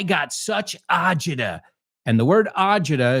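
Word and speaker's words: agita: She goes, "I got such a word ajida is an Italian American kind of word that we've adopted." The real word is acita. I don't know how to say it. It's acid as you said, Elena, but uh ajida is how the Americans have heard that word and incorporated it into the language.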